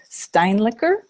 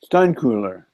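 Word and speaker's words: Steinkuehler: Candace, and I can't ever pronounce her last name right. Steinlicker? Steinkuhler.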